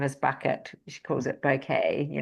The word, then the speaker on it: Bucket: Um, hyence bucket, she pronounces it bouquet works hard to impress all others.